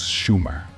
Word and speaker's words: Sumer: and their territory Sumer although he got the pronunciation wrong it was Schumer not summer opert was correct thanks